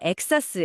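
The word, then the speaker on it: XaaS: 여기서 엑사스. 엑사스라고 읽는데 엑스 a 서비스의 약자거든요.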